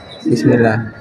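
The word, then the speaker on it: بسم الله: acara pada hari ini dengan membaca basmalah ya bacanya bismillah bukan b bukan nah disebutnya maka di Abul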